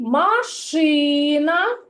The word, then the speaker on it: машина: на третій склад піраміда А у слові машина погукайте слово другий машина на другий склад так а у слові